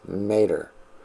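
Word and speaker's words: μήτηρ: 3384 and that is mater which is phonetically speaking may and terror so tare is in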